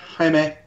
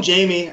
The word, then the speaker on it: Jaime: Is that how I'm pronouncing it? Yeah, Jaime. Jaime. You can call him Jamie. I mean, it all depends.